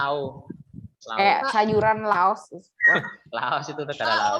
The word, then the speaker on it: Laos: Laos. Bacanya Lau.